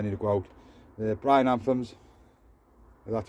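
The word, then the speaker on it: Mesembryanthemum: The bryananthums, that's how you pronounce them, little daisies.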